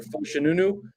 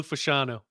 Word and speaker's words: Fashanu: Your Fushanunu guy from Penn State should be there at 11, or the kid from Alabama. How do you pronounce it? Olu Fashanu. Right.